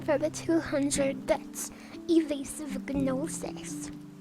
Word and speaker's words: gnosis: Evasive gnosis. The G is silent, but I like to put in the extra effort. Some days. Not all the time.